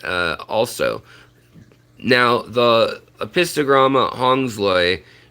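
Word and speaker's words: hongsloi: also now the apistograma hong's lay you'll see or hung's low eye is how you say it actually because of the guy's name that it's named after but um you'll see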